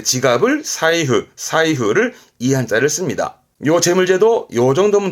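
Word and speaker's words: 財布: 이때는 사이가요.요 재물 재자의 경우는 다 자이자이 가다가 얘만 발음이 사이입니다.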